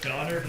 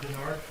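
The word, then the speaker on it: Donnard: last name uh it's donard d o n n a r d and last name JN o n all right thank you it's it's donard not Berard donard I need to apologize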